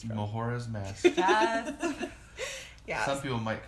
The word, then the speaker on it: Majora: Majora. I don't know. Our logic, I think, is just like the J. You pronounce it as an H.